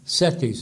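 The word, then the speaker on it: CETYS: degree from baja california's respected private settis university settis is spelled c c-e-t-y-s and its partner saint cloud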